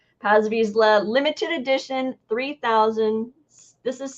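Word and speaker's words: Paz Vizsla: there is a uh pause Vizsla that's how I say his name it may be Paz Paz visla limited edition 3000 this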